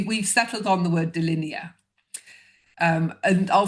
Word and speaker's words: Dilinea: i a And so you'll probably hear within there that there's the word line hiding in there linear and D for two.